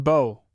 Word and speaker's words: Bo: It is written, "Bo, and you can pronounce it as you would pronounce a bow of ribbon."